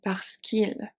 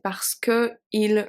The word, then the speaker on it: parce qu'il: So we have to do parce qu'il va au magasin. Otherwise we say parce que il va au magasin. It does not work in French. French is everything about a flowy pronunciation.